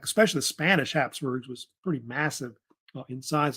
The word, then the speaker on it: Habsburg: of course, of the Habsburgs. But the Habsburgs, they say the name Habsburg. It's spelled different ways. You'll see it spelled with a P, also Hap, like HAP, Habsburgs.